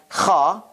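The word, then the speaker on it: خاء: And then we have Kha, like a sputum, Kha. Somebody sputing, like kind of Kha, kind of sound.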